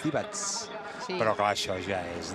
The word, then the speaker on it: Divac: Divac, per exemple, no és Divac, és Divats.